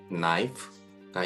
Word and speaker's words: knife: K 다음에 N이라고 하는 알파벳이 나오게 되면 앞에 있는 K가 묵음으로 소리가 난다. 바로 이것인데요. 대표적인 예로 No 그리고 knife가 있습니다.